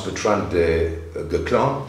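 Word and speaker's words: Bertrand du Guesclin: The good thing is that Bertrand, I found how we pronounce Bertrand de Guclan, so it's Bertrand, I found in a French video, this is Bertrand de Guclan.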